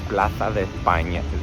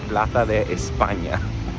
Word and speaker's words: Plaza de España: Okay, so we are going to, let me say it like a Spanish person, La Plaza de España. La Plaza de España. I think the S's are still S's, but the C's and Z's are the lisp.